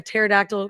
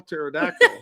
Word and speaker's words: pterodactyl: can't you hear a pterodactyl go to the bathroom why because the p is silent was that too bad start to some people are home going how do you spell pterodactyl that's what the P